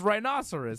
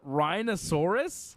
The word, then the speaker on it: rhinoceros: call it rhinosaurus well you pronounced the the the animal rhinoceros a rhinosaurus same thing D not the same thing where's my t-shirt on that one's correct and one's not it's not potato potato it's not rhinoceros rhinosaurus listen man whatever you